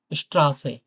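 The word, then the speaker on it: Straße: এস টে, এটা একসাথে থাকলে যেমন যেমন আমরা যদি জয়েসে আসি, স্ট্রাসে, তালব্য পরে ট থাকলে যেমন উচ্চারণ হয় না ভাই? অনেকটা তেমন উচ্চারণ হয়।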